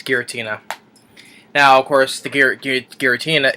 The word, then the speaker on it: Giratina: And I pronounced I did pronounce the name right, Giratina. Um, because like I said, I couldn't see from that far what the name was. So yeah, it's Giratina.